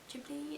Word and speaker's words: Ghibli: was made into e studio ghibli jubilee is how you say it movie and i haven't